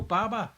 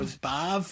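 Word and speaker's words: Badb: So that was that was so Baba, is it pronounced as Bab? Bav.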